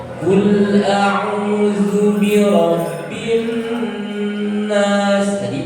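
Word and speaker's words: قل أعوذ: Setelah itu ada jeda ketika membaca kul a'udzu. Nah, itu ada unsur sakta, berhenti sejenak. Nah, itu tidak diperkenankan. Kul a'udzu birabbin nas.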